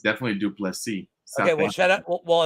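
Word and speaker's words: Du Plessis: Well, whatever Burt says is how it's officially pronounced. Yeah, it's definitely Duplessis.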